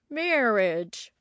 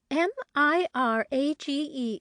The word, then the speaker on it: mirage: to give it up he added marriage and marriage m-i-r-a-g-e is pronounced Mirage said valency shortly picking up her